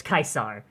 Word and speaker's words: Caesar: nerd to everyone else if a word is in Latin there's no such thing as a soft C it's not Julius Caesar it's Julius kaisar always true to kaisar